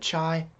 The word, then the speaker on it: chi: introduce the chi-square chi-square now it's pronounced Chi but if you want to call it chai I'm okay with that - I'm not gonna